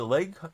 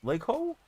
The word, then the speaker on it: Leo: Is it Lego? Leo. Almost looks like you would pronounce it like Lego, but I don't want to mispronounce your name.